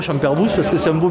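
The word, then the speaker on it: Champerboux: Airbus donc champ herbus donc on pr pronc le S donc on dit champerbous champerbou qui disent moi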